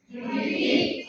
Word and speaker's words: defeat: Defeat. So, di ba naata sa ikaduha nga kanang na syllable ning stress? So, defeat. So, siya sa fet ning stress.